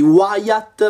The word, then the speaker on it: Wyatt: era il il terzultimo protagonista e sono rimasti Wyatt mi avete detto che si pronuncia così quindi vi ringrazio e Shell Non